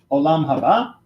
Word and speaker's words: Olam Haba: And then we have Olam Haba, which is How do you say it again?